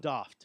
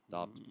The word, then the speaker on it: Daft: No, are that's you, that's the it's the Doft? that's the actual pronunciation. Yeah, Doft.